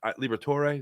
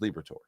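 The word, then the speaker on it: Liberatore: I always say his name wrong. It's Libert Liberator. Liberator um lefty lefty matchup tonight.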